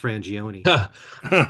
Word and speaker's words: Frangione: story of how your name really should be pronounced frangioni okay so uh couple years ago I had